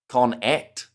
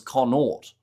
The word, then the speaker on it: Connacht: See Flesh uh Conact pronunciation. See the last live stream I just got corrected and I was told that it was Conort and now So you're saying Conact? I feel like maybe it's